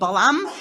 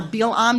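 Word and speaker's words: Balaam: So Bulock hires a sorcerer he's heard of called Balam or Bilam depending on the pronunciation you're using.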